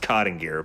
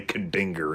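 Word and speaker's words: Kadingir: boils and ghouls specifically the kadinger sanctum it's pronounced cotting gear but it it's fun to say kadinger instead also the name of this level just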